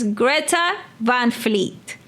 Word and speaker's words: Greta Van Fleet: And one of the ones that was mentioned was Greta Vanfleet Highway Tune. Am I pronouncing the name correctly?